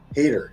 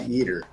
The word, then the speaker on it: Yeater: Okay, and it's actually pronounced like hater, not yeeter.